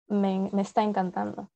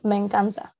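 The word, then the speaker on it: me encanta: loving it in spanish it's not mesten canton it's mencanta just i love it so somebody has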